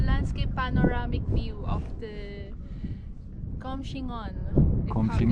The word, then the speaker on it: Coumshingaun: panoramic view of the comm xing on that's how you pronounce it correctly lake it feels so